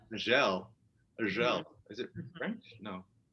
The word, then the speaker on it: Azhelle: how do I pronounce it? Azhelle. Azhelle.